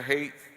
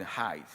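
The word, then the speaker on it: Haidt: This shift professor hate or some people pronounce it height once has contributed to rising anxieties, loneliness and fragility among our children.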